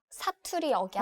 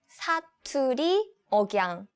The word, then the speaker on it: 사투리 억양: 아, 사투리 억양. Oh, okay. How do you say it? 사투리 억양.